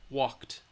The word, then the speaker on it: walked: final sound T sound walked all right walked walked walked you try saying it walked walked walked walked walked walked walked all right you're going to say that T sound at the end um let's do a